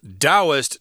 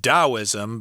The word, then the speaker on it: Taoism: at least in Taiwan's Taoist temples. I know this word is pronounced Taoism, but a lot of people will see the T there and they'll say Taoist, which I think sounds strange.